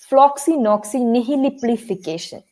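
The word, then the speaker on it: floccinaucinihilipilification: Okay, and it's pronounced as floxinoxynihiliplification.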